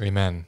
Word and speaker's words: Amen: Amen. That's how it's pronounced.